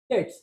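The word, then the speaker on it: debts: बैड डेट्स, again B silent.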